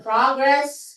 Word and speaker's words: progress: Ang tatandaan nyo, pag noun, nasa first syllable yung stress. Progress.